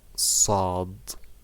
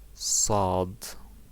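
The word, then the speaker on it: صاد: it is pronounced like sod sod yeah it's look like the s in english but you make it a little bit hard and you stretch your lips forward to make it right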